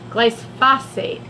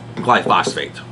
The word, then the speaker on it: glyphosate: sure the researchers also found the herb herbicide glycosate how do you say it glyphosate glyphosate blood phosphate in approximately 27.7 percent of